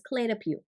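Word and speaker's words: Clé de Peau: i don't speak but it's c-l-e and then d-e and then p-e-a-u okay my best guess is clay de pew okay it's probably wrong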